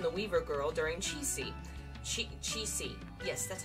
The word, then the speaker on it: Qixi: Qixi.